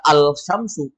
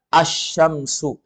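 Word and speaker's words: الشمس: menjadi ada al-nya ada tapi kalau dibaca enggak dibaca alsyamsu tapi dibaca asyamsu ah namanya alif lam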